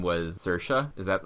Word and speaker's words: Saoirse: And shut up about Saoirse Ronan.